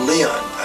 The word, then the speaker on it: Lyon: he he came from a town of leon lyon pronounced leo right and he was